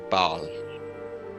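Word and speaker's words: Bael: it chaos inconvenience foreign you can call me Bal that's b-a-e-l yeah I know I Know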